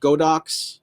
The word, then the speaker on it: Godox: for lights I have two they get they're pronounced godox like the little inexpensive flat panels uh right